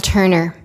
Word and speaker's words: Turner: My name is Turner. Jack and Turner rhymes with learner.